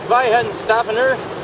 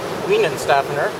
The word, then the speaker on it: Weihenstephaner: Trust me though, that Weihenstephaner, you might pronounce it Weihenstephaner, but the W is the V is in vagina.